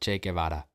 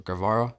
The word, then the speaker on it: Che Guevara: how much they loved Che Guevara. You know, Che Guevara? Or Guevara? I think that's how you say it with an English accent.